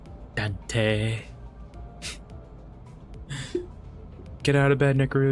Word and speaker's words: Dante: Ambrose, will you say Dante with a long E at the end? Okay, I'll try. When he says it, right? Dante.